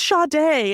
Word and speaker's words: Sade: it's Sade.